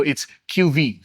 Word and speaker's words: QV-E: Now, you may notice that it is spelled as QV-E, but I was told by Poda the E is silent with the V, so it's QV.